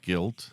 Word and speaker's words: gelt: guilt how do you how do you spell that g e l t okay I thought you said gu i l t like I'm guilty no guilt hanuk guilt